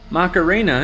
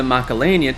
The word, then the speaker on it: Macalania: Macarena is mentioned by Tidus as a mispronunciation of the Macalania Temple, which is a clever reference to the song Macarena.